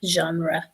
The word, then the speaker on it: genre: that the pronunciation is very French there, genre. And yeah, because sometimes even I have difficulties with the Yeah, John, like the name John, you yeah.